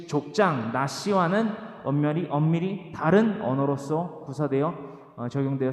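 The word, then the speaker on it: נשיא: 족장은 히브리어로 나시라고 합니다. 다시 따라하십니다. 나시. 우리가 나시티 할 때 나시라고 발음을 해요. 나시티가 아니라 나시죠. 티 빼고 나시라고 똑같이 발음을 합니다.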